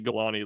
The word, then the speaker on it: Galani: Actually, Galani, I think, is how you pronounce it. I think I learned that it was actually Galani like a year after like last offseason cycle.